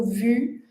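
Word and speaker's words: vous: E a mesma coisa com vu porque o s do vu não é pronunciado.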